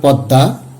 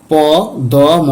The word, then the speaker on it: পদ্মা: তো এখানে প দ ম আকার এখানে দ হচ্ছে আশ্রয় বর্ণ। সেই সূত্র অনুসারে দ এর উচ্চারণটি আমাদের দ্বিত হবে এবং অর্ধশানুনাসিক হবে। সেই সঙ্গে ম এর উচ্চারণটি লুপ্ত হবে।